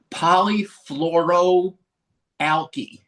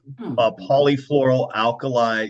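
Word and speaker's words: polyfluoroalkyl: Tallahassee was related to, now help me here polyfluoro alky. Am I anywhere close on that pronunciation? I think it's polyfloral alkali substances. So you were close.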